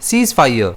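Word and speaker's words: ceasefire: इसे हम प्रोनाउंस करेंगे सीस फायर जिसमें स्ट्रेस जो है वो एस पर रहेगा।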